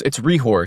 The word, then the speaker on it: Hrehor: Hrehor? That's pretty close, actually. Yeah, it's Hrehor. So it's a Czech last Hrehor. name. The H is silent.